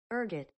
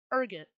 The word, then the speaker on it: ergot: Ergot. That's how you pronounce it. Ergot.